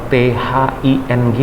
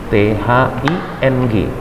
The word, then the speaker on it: thing: Kalau dia benda, maka thing berdengung di ujung, thing agak panjang kan karena dengung. Tapi kalau berpikir menjadi think, jadi ada k-nya dikit aja, jangan kuat-kuat juga.